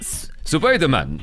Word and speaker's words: Supaidāman: How does it pronounce? Supaidāman. Yeah. Surprisingly, though, they didn't actually sound like that when they said it. They just sounded like they were saying Spider-Man. Supaidāman.